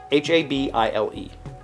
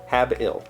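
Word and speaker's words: habile: the shapes of dollar and pound signs habel h-a-b-i-l-e habil is how it's pronounced there's how it's shown habil habil habil i would have said habil had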